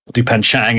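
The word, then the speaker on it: Dupain-Cheng: Heritage her name is dupan Chang dupan Chang as it's pronounced but it's with an e um so she's she's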